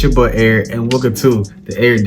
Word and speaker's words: Erich: Yes, my name is Erich. The H is silent.